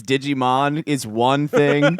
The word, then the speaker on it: Digimon: You're my Digiman. Smash cut to Jeff's bedroom. I know that that's not the right way to say it. It's Digimon is one thing. I know that.